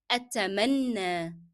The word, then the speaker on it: أتمنى: that in Arabic as أتمنى أتمنى. Okay, do you remember why we are pronouncing ya as alif?